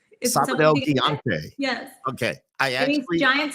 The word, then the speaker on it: Sábado Gigante: were six years old and how do you pronounce that sabad higante Sab gante yes okay I actually giant Saturday in English